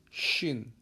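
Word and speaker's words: شين: Berbeda dengan shin. Berbeda lagi dengan so. Sin itu tipis, shin itu lebih tebal, so itu bibir dimonyongin. So. So.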